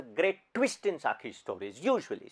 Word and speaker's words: Guy: 150-200 सालों के दरमियान गी डे Maupassant, his full name is गी. It's अंग्रेजी में GUY को गाय बोलते हैं, फ्रेंच में गी बोलते हैं. So it's गी de Maupassant. That's his actual pronunciation.